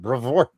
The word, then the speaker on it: Brevoort: That's how I'm going to pronounce it. Brevoort.